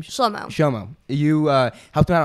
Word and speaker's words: Shlomo: Shlomo.